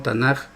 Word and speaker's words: Tanakh: Alguna gente pronuncia con la J al último Tanakh.